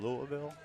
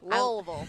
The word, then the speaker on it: Louisville: And do you live in Louisville? Louisville? Louisville.